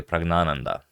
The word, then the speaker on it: Praggnanandhaa: It's, the stress goes on the first na, not on the second na, so it's actually Praggnanandhaa.